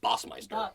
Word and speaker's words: Bassmeister: Bassmeister? With Mr. Bossmeister. Bossmeister. Oh yeah, of course, German. You pronounce it German way, yeah.